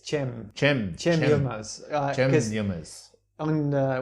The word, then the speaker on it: Cem: It's Cem. Cem Yılmaz. Cem Yılmaz. On Wikipedia, he's got a pronunciation.